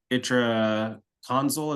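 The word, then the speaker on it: itraconazole: idiopathic so you would recommend that uh the itra console is that how you pronounce it yes okay um got another question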